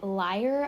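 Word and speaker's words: lyre: other musical instruments especially the liar i think is how you say it it's spelled l-y-r-e so if you want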